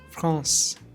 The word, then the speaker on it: France: The combinations AN and EN create a nasal AN sound. Let me repeat again. AN. For example, France, enfant.